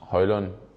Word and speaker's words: Højlund: do that uh yes my name is Rasmus hoyland I hope you got